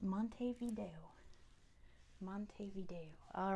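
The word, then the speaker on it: Montevideo: we spell that right Monty and then video how you would say it but it's pronounced Monte Vio Monte Vio all right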